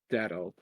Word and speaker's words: Dado: Yeah, I'm gonna say that Dado tier is just for when we come across a group of interest that's so fucking bizarre that we just how do you place it? Dado. Dado. It's just Dado.